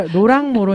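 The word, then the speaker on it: Laurent Moreau: 이렇게 나오는 이유를 알겠다는 잠깐 로이라고 해주세요 아 그래 랑이 아니라 로랑 모로 있니다 아 발음 어렵다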